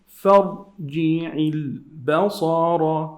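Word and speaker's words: فارجع البصر: The next word here, فَرْجِعِ الْبَصَرَ. Ra is heavy. فَرْجِعِ lam is sukoon. Give it the time.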